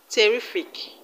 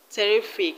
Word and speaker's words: terrific: let's cut another word terrific terrific the second syllable from the end of the word is re ri terrific now let's move on